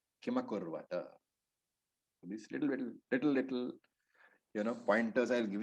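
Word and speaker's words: किमकुर्वत: And Hindi speakers must remember that the Akara, the is always present in Sanskrit. So it is not Kim Kurvata. In Hindi, if you are reading that word, it will be Kim Kurvata, but the Ma is carried forward. Kimakurvata.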